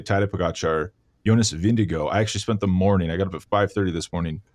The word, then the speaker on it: Vingegaard: I'm listening to like Danish recordings of people saying the name. I'm switched over to Vingegaard.